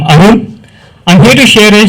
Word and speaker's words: Arun: As Indu rightly pronounced, I'm Arun.